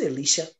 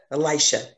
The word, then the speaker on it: Elisha: seeing with the light is it alicia is that how you say it i always mix up elisha and elijah with elisha elisha yeah god had already shown